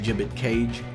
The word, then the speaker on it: Gibbet Cage: 1, the boss is going to cast Gibbet Cage. Yes, that's the pronunciation.